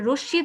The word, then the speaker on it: রশ্মি: ঠিক আছে, রশ্মি তো আমরা রশ্মি বলি না, কিন্তু এটা হবে রশ্মি। রশ্মি যার সাথে যুক্ত হয়েছে তাকে আমরা দুবার উচ্চারণ করলাম।